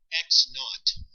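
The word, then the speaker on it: x₀: zero it's pronounced um x naught would be x subscript zero and they don't say zero there they just say not it's an old-fashioned way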